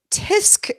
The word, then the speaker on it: tsk: Tick Tock but but T tisk is spelled TSK okay it'sing that that's what TSK tisk actually is I I hear people say tisk tisk they say it because they're purposely mispronouncing what it is but okay do they